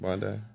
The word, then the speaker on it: Bondi: beach yeah that's how you say it right Bondi uh Bond Bondi if you wish you go